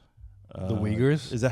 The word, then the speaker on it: Uyghurs: The Uyghurs. The Uyghurs? Is that how you pronounce that word?